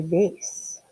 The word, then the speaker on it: vase: is the height of a vase or vas depends on how you say it with 610 joules of